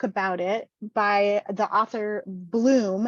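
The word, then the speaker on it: Blum: it by the author Bloom it's pronounced Bloom but she spells it b-l-u-m b-l-u-n um highly recommend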